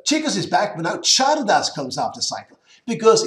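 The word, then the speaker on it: Csárdás: So Chikos is back, but now Chardas comes after cycle. Because in Hungarian, CS is a separate letter, actually with the same pronunciation as CH in Spanish.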